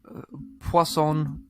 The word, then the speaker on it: Poisson: Poisson. And it says it's basically poison, but with a French accent.